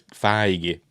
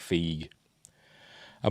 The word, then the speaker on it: Feige: I still get them I would say Kevin feig for ages even though I'd heard him you know heard his name as feige for some reason I kept pronouncing it fig a memorial right anyway we